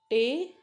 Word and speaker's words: table: example table right so what's the sound table why because e is silent table a it's not tablet table but here it will